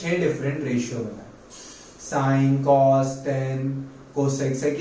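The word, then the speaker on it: sine: First ratio which is साइन, जिसको short में कैसे लिखना है? SIN। Both are pronounced as साइन, इसको कोई सेन नहीं पड़ेगा।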